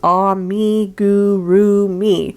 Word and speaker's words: amigurumi: does start off with how to pronounce emma gurumi which is ah me guru me according to the phonetic spelling here which i think